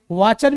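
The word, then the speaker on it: watcher: बता रहा हूं कि CH के बाद जो T आता है वो साइलेंट रहता है। तो क्या कहेंगे इसको, वाचर कहेंगे। क्या कहेंगे बेटा, इसको वाचर कहेंगे।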